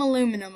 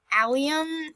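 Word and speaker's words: allium: how they're pronounced but I call them aluminum and I don't care if you guys spam in the comments yelling at me it's not aluminum it's alium I don't care I call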